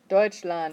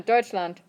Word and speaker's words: Deutschland: next in yep and how do you say germany deutschland everybody deutschland okay so it's not deutschland let's do it land one more time deutschland that's better so don't oh that